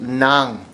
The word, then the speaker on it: ng: It's ng, but it's pronounced nang.